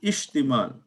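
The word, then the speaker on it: اشتمال: No, So this it's is not istimal. istimal. This is Not ishtimal. istimal. This is ishtimal.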